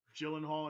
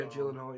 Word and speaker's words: Gyllenhaal: until it got to the end uh Jake Gyllenhaal I think that's how you actually say his name yeah Gyllenhaal yeah did a great did a great job